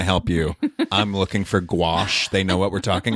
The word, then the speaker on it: gouache: acrylic Tony experience with gouache no this is it g a that was my question G Au u c h e I think oh oh like go squash I I might be